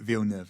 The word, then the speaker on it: Villeneuve: Well, I'm going on the basis Yeah, that the film director Villeneuve, who's just made Dune and Blade Runner, they pronounce it Villeneuve, and it's Okay, spelled great.